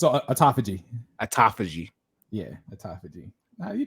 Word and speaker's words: autophagy: the process and by the way this word is spelled a-u-t-o-p-h-a-g-y that how you say it yeah it's a autophagy autophagy yeah a tophage you did good man